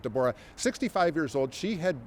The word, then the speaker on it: Deborah: Looks like Deborah, but she pronounces it Deborah.